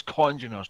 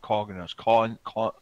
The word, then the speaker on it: congeners: But yeah, the congeners, it's congeners, not coggeners.